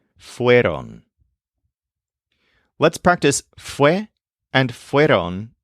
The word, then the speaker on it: fueron: Try to picture these pandas in the red light trying to wear latex gloves, and remember the stressed syllable wear, which is the stress of their conjugation, fueron.